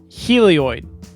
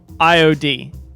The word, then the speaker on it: Heliod: Another one I may have trouble pronouncing. Gotcha. Helioid. Heliod. Heliod.